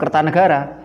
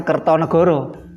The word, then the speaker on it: Kertanegara: Kertanegara raja Singhasari ini membacanya tetap Kertanegara God bukan kertonegoro Raja Majapahit yang terkenal